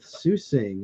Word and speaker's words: Tzusing: 2 releases, and I'm going back with Susing again. That's spelled Tzusing.